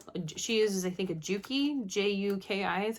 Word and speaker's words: Juki: She uses, I think, a Juki, J-U-K-I is how you pronounce it.